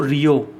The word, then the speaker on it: Rio: वहाँ के RN रवि, और CM है नेफ्यू रियो। इसकी मैं स्पेलिंग लिख देता हूँ, NEIPHIU, और सर नेम है इनका रियो, RIO।